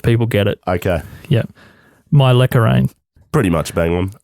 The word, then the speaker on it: Mylecharane: Mylecharane. Pretty much bang on. Mylecharane. Mylecharane. Mylecharane. Mylecharane. Mylecharane. Mylecharane.